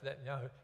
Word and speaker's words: Netanyahu: When you add the Yahoo part on the end of it, it's pronounced Netanyahu.